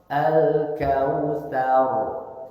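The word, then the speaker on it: الكوثر: Nah itu catatan pertama yang kedua ro ketika waakaf sebelumnya fathah dibaca tebal tafhim cara bacanya tidak tsar tapi tsar tar tar alkautsar tar nah rnya tebalkan cara membaca ro ketika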